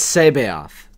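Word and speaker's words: C'baoth: It's Sabaoth.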